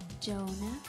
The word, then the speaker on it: Jonah: Jonah. Full name? H to silent.